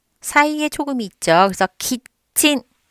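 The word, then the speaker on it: キッチン: 그래서 키친.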